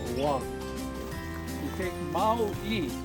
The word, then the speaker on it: Oahu: It sounds like a W, Oahu, but it's really Oahu. If you say it fast, it sounds like a W, Oahu.